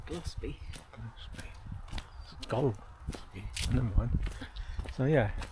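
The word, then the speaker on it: Golspie: the coast glossby gloss Scottish lady said glossby glossby gold mind so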